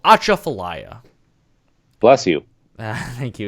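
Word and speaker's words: Atchafalaya: intro song we have right now is called acha falaya bless you thank you it's spelled a t c h a f a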